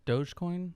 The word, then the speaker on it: Dogecoin: And the other one, Dogecoin? Is that how you say it? Dogecoin.